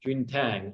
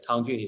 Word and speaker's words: Tang Jun: sounds good I'm uh J Tang or tangin either way tangin is the Chinese way to say my name but dang is the uh the